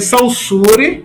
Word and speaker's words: Saussure: Se escreve Saussure, né? Mas é Saussure. Muita gente chama Saussure, mas repita, é Saussure, certo?